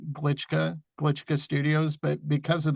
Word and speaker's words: Glitschka: of course but uh my last name seems difficult it really isn't it's pronounced and spelled the way you'd pronounce it glitschka glitschka Studios but because